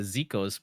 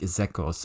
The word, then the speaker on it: Zekoz: the pron pronunciation, I I have heard people say like Zeos even and I'm like sure, but but I think in general it's pronounced as Zikos.